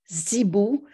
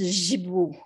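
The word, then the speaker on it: sipu: Alors, ça s'écrit S-I-P-U, mais ça se prononce Zibou. Et il y en a qui prononcent Jibou.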